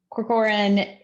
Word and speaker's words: Corcoran: i'm going to assume i'm hoping it's pronounced like it's spelled cocooran corcoran does that sound close to right yolanda all right i'm looking to the yolanda for some thumbs up okay great um dr corcoran is the assistant superintendent